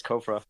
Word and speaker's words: COFRA: insights so kofra yeah I think I think you said it right it's kofra it's kofra okay good kofra is a